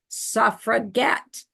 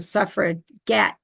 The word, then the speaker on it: suffragette: around they pronounced it with a hard G like suffragette so there reflecting this